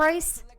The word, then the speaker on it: Bryce: Bryce? Your name rhymes with rice, okay?